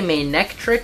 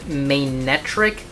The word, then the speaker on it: Manectric: Now, some people say Manectric, which I believe is how it's spelled, and then some people say just like Manectric, like, and they just omit the C, which is just incorrect.